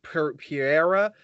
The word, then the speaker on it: Pereira: Michael, I always pronounce his name wrong. It's Pereira.